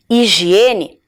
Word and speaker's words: higiene: vou contar para vocês higiene tem o som de i porque o h nós não pronunciamos o som então e ela começa